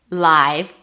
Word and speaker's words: live: Then we have, this could be live, as in it's a live show, then it's the I, as in my, live, or live, as in where do you live?